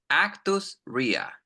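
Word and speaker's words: actus reus: two things actus Ria and men's Ria again pronunciation actus Ria ausia very good men's Ria men R very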